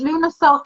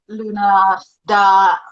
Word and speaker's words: Lughnasadh: And it's kind of the same, because Lughnasadh can be pronounced the way you said it, which is like very, very Gaelic, and as Lughnasadh in the more Scottish way, and sort of lots